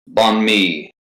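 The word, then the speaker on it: bánh mì: He says it's pronounced like me. On me. What's this Palisades fire in Los Angeles? Banh mi, Vietnamese sandwich made with chicken and full of pickled vegetables.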